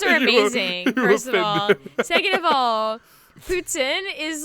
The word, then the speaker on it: poutine: the reason is so in english it's poutine but in french which my family is french putin it's putin putin that's how we say it i see you